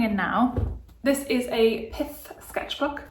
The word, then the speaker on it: Pith: This is a Pith sketchbook. That's one to pronounce very carefully. Pith, P-I-T-H.